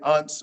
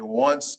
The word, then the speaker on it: once: You don't say unce or un. You say once or one.